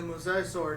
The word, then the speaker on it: mosasaur: Like, honestly, when we first saw the mosasaur, that's how you pronounce it, right?